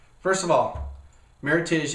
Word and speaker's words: Meritage: make a point about Meritage first of all Meritage is Meritage not Meritage Meritage supposed to rhyme with Heritage it's supposed to be Merit and Heritage together and what they do